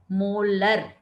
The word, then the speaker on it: molar: भी लिखते हैं, और इसका प्रोनाउंसिएशन होता है मोलर, राइट, MOLAR।